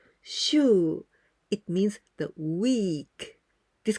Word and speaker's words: 週: The pronunciation of this kanji is shu.